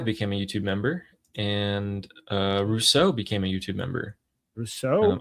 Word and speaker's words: Rousseau: Jets115 became a YouTube member, and Rousseau became a YouTube member. Rousseau? I don't Is that know. how you say Sometimes it? it's Rousseau.